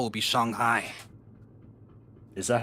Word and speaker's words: Shanghai: So, our next port of call will be Shanghai. Is that how it's pronounced?